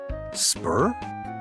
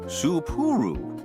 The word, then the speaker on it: Supuru: Welcome to the Supuru Hot Springs in Spur. No, three syllables. Supuru.